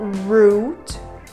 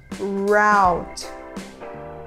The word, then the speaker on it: route: A palavra seguinte significa rota e nós temos duas formas corretas de pronunciar essa palavra. Nós podemos falar route, route, ou ainda route, route. As duas formas você vai ouvir e as duas formas estão corretas.